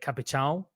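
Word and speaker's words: Capitão: if you want to pronounce it like a Brazilian way, the thing on the A at the end, it's like it's like an N. It's like a N pronunciation at the end. So like capichão.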